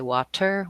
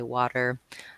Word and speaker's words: water: Americans say where like in the word water we don't say water we say water similarly I don't say